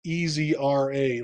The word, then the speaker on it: ezRA: me that one uh Ezra I think in Windows capitalization doesn't matter but I've always tried to have it easy ra like radio astronomy so I I spell